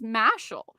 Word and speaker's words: Mashle: I say you know I actually think it's mashall and they're like I think you're full of it so I'm glad then that's how it's pronounced well obviously we're going to be talking about mashall magic and muscles because it has been announced